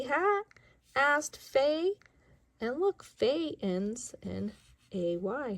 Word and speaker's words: Fay: And look, Fay ends in A-Y. Her name ends in A-Y for A. So F and A, Fay!